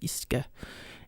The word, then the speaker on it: uisce: And I believe I just pronounced that as UCs, but it's actually pronounced Ishka in Gaelic.